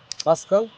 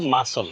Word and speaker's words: muscle: Wednesday Wednesday Wednesday M ইউ এস সিলই এটার উচ্চারণ মাসকল আসল উচ্চারণটা হবে মাসল বল পাঁচটি শব্দ যদি একটা বাক্যে ব্যবহার করি